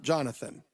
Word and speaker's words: Jonathan: Now, Rabbi, someone's telling me that I'm mispronouncing your name, that it's Yonatan, not Jonathan. I wrote on my screen Jonathan, or the truth is in Hebrew it's Yehonatan, but either way is fine.